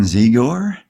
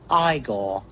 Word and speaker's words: Igor: You think you know Frankenstein Ziggore? Ziggor? No, it's pronounced Igore.